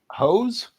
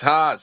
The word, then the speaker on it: Haas: You guys got a response to hose? All right, it's spelled with an H, so I'm not gonna assume it's Jose. Hose. No, it's Haas.